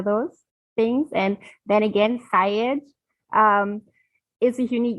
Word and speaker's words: Sayegh: So my first name is Jamil, Jam, like Michael, Il, and then Sayegh is S as in Sam, Ayegh.